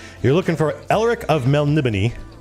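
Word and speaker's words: Melniboné: looking for elric of mel nibini i know it looks like melanie bone but there's eventually you meet a barbarian who who pronounces it phonetically and so you know how to pronounce it this is what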